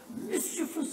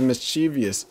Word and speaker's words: mischievous: around you're still as mischievous as ever that's how you pronounce it I thought it was mischievous yo look at the